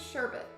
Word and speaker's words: sherbet: like sherbet or sherbet it's technically meant to be pronounced as sherbet there's no second r I know right I'm